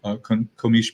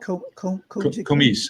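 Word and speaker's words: Comice: It's a variety that we own, and it's called Komish pear, and it's terrific. It's each pear weighs about a pound. How do you spell that? Komish, C-O-M-I-C-E.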